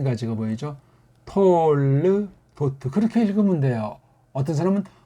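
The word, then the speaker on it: תּוֹלְדֹת: 톨르도트 그렇게 읽으면 돼요. 어떤 사람은 톨레도트 이 밑에 점 아래에 두 개 박은 건 이건 불분명한 발음이다.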